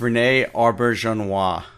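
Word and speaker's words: René Auberjonois: I think I know how to pronounce it. It's Renee Auberjonois, I believe is how you pronounce it.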